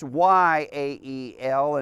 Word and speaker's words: Jael: And Jael, now in Hebrew, in English it's spelled Jael. But in Hebrew, it's Yael, and that's usually the way it's actually probably needs to be presented.